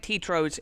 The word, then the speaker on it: Tetro: Am I saying it right? Tetro. It's French.